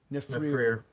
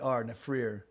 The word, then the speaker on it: Nephirer: Nefrir. Yeah, and so the way I spell it is Nephirer, Nefrir.